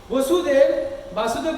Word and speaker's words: वसुदेव: तथापि जब कृष्ण वासुदेव बोलेंगे तो भगवान श्री कृष्ण हो जाएगा। वाक्य को ध्यान रख के पढ़ना चाहिए या उच्चारण करना चाहिए। वासुदेव बोलेंगे तो श्री कृष्ण चंद्र हो जाएगा, वसुदेव बोलेंगे तो उनका पिता हो जाएगा, है कि नहीं।